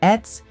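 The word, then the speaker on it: עץ: A tree, pronounced etz, means tree, often symbolizes stability, life, and growth.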